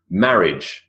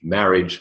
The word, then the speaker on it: marriage: Marriage is not mariage. Marriage, silent I, and then the silent E on the end.